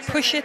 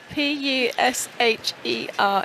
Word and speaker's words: Pusha: Rebel Wilson, Spike Lee, Bella Haddad, Pusha T. Bella Hadid. Sorry. Ben Simmons, Stan Smith. Pusha T. And You've even spelt that. Pusher. It's with an A.